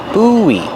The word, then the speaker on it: buoy: buoy pronunciation use a long ooh like food and then the long e like green beans and Link the vowels when you leak the vowels you hear kind of a w sound together boo Booey this is